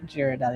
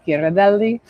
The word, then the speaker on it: Ghirardelli: Just make sure people pronounce it correctly. It's not Girardelli. It's Giraelli.